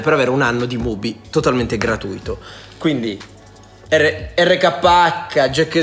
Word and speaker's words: MUBI: Ora commentate con l'hashtag RKHXMobi, RKH per Mobi, RKHXMobi, Mobi scritto Come si pronuncia? MUBI.